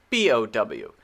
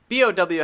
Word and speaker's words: bow: B-O-W. Now, B-O-W actually has a couple of different pronunciations.